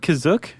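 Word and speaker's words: Kashyyyk: Is that how you say it, Kizuk? That's how it's pronounced in the episode, the holiday special, but it's also pronounced different ways other times. I would have pronounced it Kashi.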